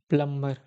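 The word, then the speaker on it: plumber: और डी जी ई silent B मतलब इसमें बी साइलेंट होता है साइलेंट स्पेलिंग पैटर्न्स होता है ओके चलो देखो नंब डंब क्रमब डेप्ट प्लंबर इसमें थोड़ा सा बीच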